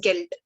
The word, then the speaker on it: Geld: It is quite easy to pronounce, like it's Geld.